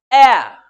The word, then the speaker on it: heir: जहां नहीं होगा वहां हमने आपको ये वर्ड्स लिखा दिए हैं, बता दिए, आवर, ऑनेस्ट, ऑनर, एयर।